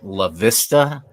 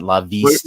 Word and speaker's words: La Vista: It is pronounced La Vista, Nebraska, not La Vista.